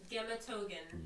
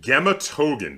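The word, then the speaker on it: Гематоген: Gematogen. Gematogen. That really doesn't look like that. It looks like Rematore. Well, no, that's a G. Gematogen. Look like ours are G's in Cyrillic. Okay, so Gematogen, this is a candy where it is chocolate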